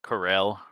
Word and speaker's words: Corel: funneled back out to the coral region um um excuse me it's the Corell region sorry sorry old habits